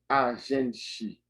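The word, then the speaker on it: a gente: Ça, yo prononce li agenti. Yo prononce agenti.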